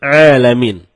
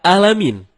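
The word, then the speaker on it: العالمين: berbeda begitu juga terkadang kita malas mencapai huruf Ain jadinya ketika kita membaca Alhamdulillahirobbil alamin malah dibaca alamin helm-in menggunakan huruf Ain Ain artinya semesta alam nah kalau alamin artinya sakit kalau kita baca dari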